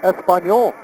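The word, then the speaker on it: Español: The Hawaiians couldn't pronounce the first word they were taught, Espanol. There's no ES pronunciation. They kept saying paniola.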